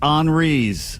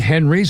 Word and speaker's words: Henri's: It's Henri's. Henri's. Not Henry's and Huey's, but Henri's.